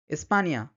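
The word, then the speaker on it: España: বলেন অনিয়ন নিয় নিয় এই নিয় উচ্চারণটা কিন্তু এই এন এর উপরে টিলস সাইন দিয়ে বোঝানো হয় যেমন নিনিয় মানে হচ্ছে ছেলে মানিয়ানা মানিয়ানা মানে হচ্ছে সকাল বা গ মানে টুমরো স্পানিয়া স্পানিয়া মানে হচ্ছে স্পেন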